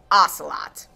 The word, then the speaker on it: ocelot: it turns out that the correct pronunciation a lot is actually ocelot sincerest apologies that was